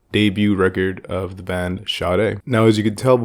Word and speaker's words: Sade: pronunciation I would always I would see the name s-a-d-e and of course I would always say like say it and never and never shade but I heard the